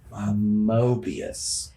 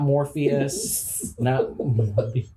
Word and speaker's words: Mobius: no yes you are mobius without an r guys let's make sure we say it right moving forward mobius so not more so not not morpheus and so mobius is